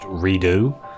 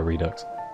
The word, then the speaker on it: Redux: remember when Metro Redux came out, it's actually pronounced Redo, and everyone was like, oh. I love the way that still, to this day, most people call it Metro Redux.